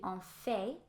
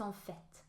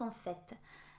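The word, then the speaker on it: en fait: it's supposed to because in French often you will not pronounce the end of the word unless there's an e or something that symbolizes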